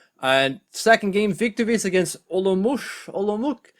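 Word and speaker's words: Olomouc: second game victories against olomoush i think it's a hard c either way mashu did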